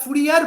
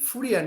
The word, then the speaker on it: Fourier: তো আমরা ফুরিয়ার বলি কথাটা, কিন্তু উচ্চারণটা ঠিক ফুরিয়ার না, যেহেতু উনি ফ্রান্সের লোক, ফ্রেঞ্চ ম্যাথামেটিশিয়ান। সো ফ্রেঞ্চে উচ্চারণটা হচ্ছে ফুরিয়ে।